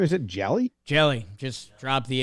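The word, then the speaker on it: Hjelle: Jelly. Just drop the H basically. A silent H in front of his name? Yeah. Silent H, hit the E at the end because it just ends LLE.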